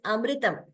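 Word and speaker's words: अमृतम्: It's like amritam. We shouldn't say amritam. There is no extra mu there. It is amritam.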